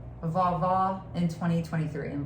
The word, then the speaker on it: vovó: Vovó in 2023. And vovó means grandmother in Portuguese, because my mom's from Brazil.